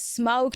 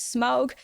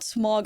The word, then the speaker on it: Smaug: Before we get into that, though, like I'm pretty sure the pronunciation for this card is Smaug. But, correct me if I'm wrong. I was browsing like Reddit threads and YouTube videos and all that stuff to make sure that I had it right. So, it's not Smaug, it's Smaug.